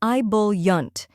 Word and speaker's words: ebullient: pronounce it with confidence the correct pronunciation is ibul yant let's break it down first we have I which sounds like the I and bit next is B which rhymes with full and is stressed then comes yunt which sounds like Yun in important now let's put it